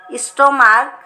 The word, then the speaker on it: stomach: Character, chaos, stomach, monarch.